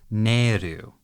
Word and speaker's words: Nahel: The Japanese pronunciation is Neru. And it's katakana ne, e, and ru.